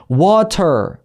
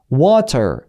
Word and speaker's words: water: 그래서 water 이렇게 물 말할 때 중간에 T 발음으로 하는 것도 괜찮으나 water, 그리고 이렇게 말하면 영국식에 가까워요.